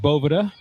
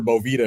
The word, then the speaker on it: Boveda: I think I was calling it Boveda, which I think if we talked about it last time, that's a pretty common mispronunciation of that, right, JP? It certainly is, my friends. It's either Boveda or Bovita is what most people call it.